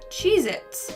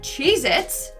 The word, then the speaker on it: Cheez-It: Moving on to number 9, we have Cheez-Its. But apparently, that tasty cheese cracker is not called Cheez-Its, it's Cheez-It.